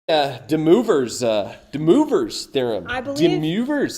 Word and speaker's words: De Moivre: I believe De Moivre's. I believe this is French and it's pronounced De Moivre's theorem.